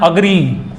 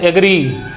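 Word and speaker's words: agree: Talking about the third, यहाँ पे मैंने लिखा है अग्री। इसको बहुत लोग क्या पढ़ते हैं? एग्री। तो that is the pronunciation of this is अग्री। अग्री एक वर्ब है और इसका मतलब होता है सहमत होना।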